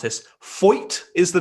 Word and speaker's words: Foyt: At Triple Crown Racing on Instagram asks, having spent your first full year at, I really don't want to mispronounce this, Foyt is the name of the racing team, correct?